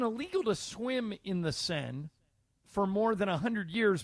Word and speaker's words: Seine: The river in France that's spelled S-E-I-N-E. How is the that Seine. pronounced? The Seine. The Seine.